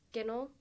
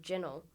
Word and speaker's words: ginnel: Um, I haven't met anyone else outside of Manchester that says Ginel. Um, I know that in Sheffield they say gel and I think that's the closest, but it's still a little bit different.